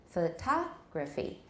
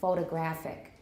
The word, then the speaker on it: photographic: form means photography and then we find the stress goes even further right for the adjective form photographic a photographic memory but this is this picture looks photographic you could say maybe so photograph photography photographic they all have the same root right they all have the same stem photograph but we see the stress moving when it becomes a different part of speech but what class of